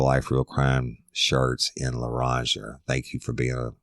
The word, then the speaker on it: Loranger: Y'all don't know about Loranger, how it's spelled. It's Lorranger.